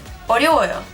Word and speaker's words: 어려워요: As you can hear, letter 르 is pronounced as 르 sound. It's not an L sound. It's not 어려워요. It's 어려워요. 어려워요. And because it is enclosed between the sound O and yo, two vowels, it is pronounced as a R sound.